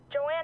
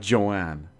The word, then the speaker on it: Joan: Her name is Joan, not Joanne. Joanne is spelled completely differently, and it's completely different.